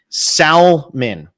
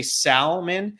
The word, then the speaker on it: Salman: front of me and people who mispronounce Salman Salman right that's what you want me to say here Salman that we're going for he doesn't like when people say salmon so um yeah he